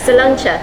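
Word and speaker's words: sláinte: Salancha.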